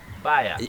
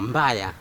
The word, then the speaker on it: mbaya: Baya. No, mbaya.